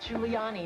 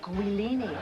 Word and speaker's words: Giuliani: I shouldn't have to tell an anchor woman that it's pronounced Giuliani, not Guilini.